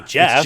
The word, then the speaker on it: Geoff: Um, And Jeff isn't spelled with a J either. See, it all it's makes sense. Geoff, but we say Jeff Geoff.